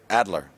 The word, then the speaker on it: Adler: So, but he does have a German middle name, Adler. What was it? Adler? Adler? Yeah. Like eagle? Eagle? Like eagle? Yeah, and my first son's Wolfgang.